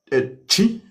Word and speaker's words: Twi: Could you spell for me chi just in English?